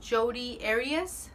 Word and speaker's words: Jodi Arias: Si a ustedes les interesa, métanse en el internet, métanse a ver el caso de Jodi Arias. Se escribe Jodi, J-O-D-I, y luego su apellido es Arias, A-R-I-A-S, Arias.